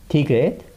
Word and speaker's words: 디귿: And next we have 1 and 2, 디귿. And in English pronunciation, it sounds like 디, 디.